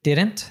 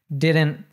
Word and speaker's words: didn't: So we have a nice one there with didn't. Anytime we have a contraction that NT, again, we tend to cut off the T sound. So it's like didn't, can't, couldn't, wouldn't, shouldn't, and so on.